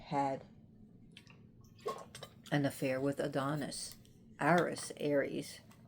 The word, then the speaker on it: Ares: Ares, we pronounce him Ares here, but his Greek name is Ares, was jealous of Aphrodite in Greek, and he went to slaughter Adonis.